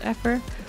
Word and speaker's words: Effer: call me Hilda because Effer rhymes with heifer and I'm not a cow.